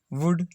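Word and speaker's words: would: OU का उच्चारण ऊ, कुड, शुड, वुड, OU का उच्चारण कुड, शुड, वुड। L silent है, एल साइलेंट है, इसमें भी ये एल साइलेंट है।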